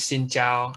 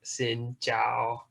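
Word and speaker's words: xin chào: few words conversational words hello or hi is xin zhao and i add like the english pronunciation i tried my best but it's like xin zhao i guess that works too and then some transactional words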